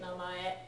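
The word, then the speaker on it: 名前: Namai. Namae. Yep. Name. Yeah, name. And this na gets pronounced another way as well, may.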